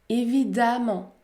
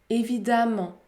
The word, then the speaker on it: évidemment: prononcer père perte perte la lettre e peut se prononcer à dans les adverbes qui se termine par eux mais par exemple évidemment évidemment évidemment ou encore patiemment patiemment